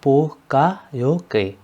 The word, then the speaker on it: Poka-yoke: इसका जो प्रोनाउंसिएशन है वो है पोका योके।